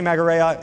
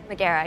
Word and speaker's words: Meera: right here I have Jenny marea am I pronouncing that right Meera yeah Meera and I apologize and